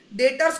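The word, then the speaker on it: debtor: उसकी spelling डेप्टर करके है, बट उसको पढ़ेंगे कैसे, प्रोनाउंस कैसे करेंगे, डेटर, ठीक है।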